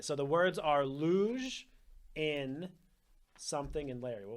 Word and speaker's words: luge: We know it's pronounced luge, but what if I said because I didn't know how it was pronounced if I said.